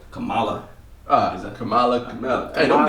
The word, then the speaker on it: Kamala: just got that new kamala harris am i pronouncing her name right kamala ah is that kamala don't disrespect okay i